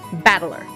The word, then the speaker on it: Battler: That is made up the characters for fight and person, and it's pronounced battler.